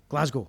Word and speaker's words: Glasgow: speaking Scottish is that we have real emphasis on the vowels but they're short sounds Glasgow Glasgow Glasgow right glasgo so